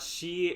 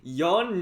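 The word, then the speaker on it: 四: Is not is not she, Shichi, and Q. It is Yon, Nana, and Ku, the simpler versions.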